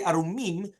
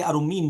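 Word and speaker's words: עֲרֻמִּים: If you say Arumim, that's the proper one, which is the ones which are not clothed. And if you say Arumim without a dagesh, it means crafty people.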